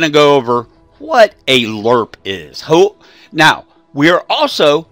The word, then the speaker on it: LRRP: So, a LRRP unit, Lima Romeo Romeo Papa, pronounced LRRP, L-U-R-P, is a long-range reconnaissance patrol.